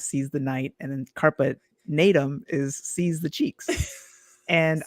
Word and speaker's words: Carpe Natem: So carpe natum, or as your husband properly pronounces it, it's carpe natum.